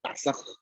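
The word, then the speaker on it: נסה: 히브리어 성경도 아주 추측적인 나사라는 단어, 정확하게 발음하면 나사흐거든요. 나사흐. 뒤에 있는 발음은 묵음이어서 나사흐.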